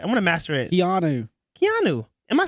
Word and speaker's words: Keanu: Keanu.